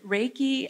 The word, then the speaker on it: reiki: symbols you can see the first one is rey which simply means universal basically god's wisdom it also could mean that or translated as that and the second syllable is ki or chi and it comes from meaning life energy so those are the